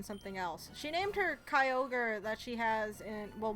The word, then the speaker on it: Kyogre: public oh and go Kroger cuz she she kept calling it Kroger and I'm pretty sure she does it to make me mad that's mispronouncing Pokemon names she'll you've been called